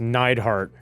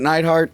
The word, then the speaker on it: Neidhart: beat hulk hogan also i believe it's pronounced neidhart is it nightheart that's you need heart